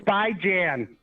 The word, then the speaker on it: Bijan: You can't even pronounce Bijan's name. You're the reason we say It's by Jan.